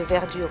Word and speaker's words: verdure: Ainsi, dans l'exemple d'Arthur Rimbaud, c'est un trou de verdure où chante une rivière, les E de verdure et les E de chante ne seront pas prononcés.